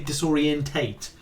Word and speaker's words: disorientate: people do question rich why do you say disorientate and it's like yeah it's because i'm british and that i'm associated i always think it's disorientate but it's not it's